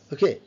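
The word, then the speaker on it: walk: ছক ছক ছক ছক ওকে ছক ইস ফলিমিক সাউন্ড আপনারা যারা প্রপার প্রনান্সিয়েশন শিখে যাবেন আপনারা দেখলে বুঝতে পারবেন তখন। খোক এল sound silent ওক ওকল silent. ওক মানে হাটা।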